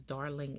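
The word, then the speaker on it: Darlyng: owned um amazon and darling is spelled d-a-r-l-y-n-g so it's darling enco um not sure if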